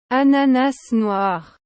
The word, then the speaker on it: Ananas noir: So let me get the proper pronunciation for you on this one. Ananas noir.